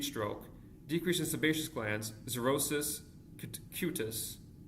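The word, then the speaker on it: xerosis: Cenyl perpa decrease in sweat glands heat stroke decrease in sebaceous glands zerosis cutus zorosis is spelled x e r o s i s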